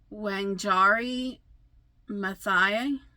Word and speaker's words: Wangari Maathai: Wangari Maathai.